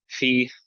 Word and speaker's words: Phi: Phi, pronounced like a PH as in phone.